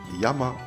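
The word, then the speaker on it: 山: Par exemple, ce sera Yama pour montagne et hi pour le feu.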